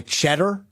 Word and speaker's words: Tschetter: they were fascinated by the guy Cheddar that came off which was spelled like TSCHETTER or something. And they were fascinated his name was Cheddar.